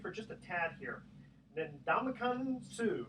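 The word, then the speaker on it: Ndamukong Suh: Ndamakong Suh, is that how you pronounce it? Yep.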